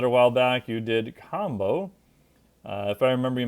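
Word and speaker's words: Kambo: do you recommend it so combo which is spelled k a m b o does look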